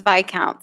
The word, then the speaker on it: viscount: Siri says it's Viscount, so that's final, I guess.